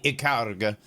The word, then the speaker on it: Ikaruga: I'll pronounce it correctly. Ikaruga.